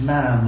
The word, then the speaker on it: ma'am: Now, you pronounce it ma'am like jam. Yes, ma'am.